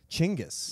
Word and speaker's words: Chinggis: Chinggis. Yeah, that's Genghis's correct pronunciation.